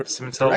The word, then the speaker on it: Simental: I've got Arthur Simental. Did I pronounce that correctly? Yep, Simental works.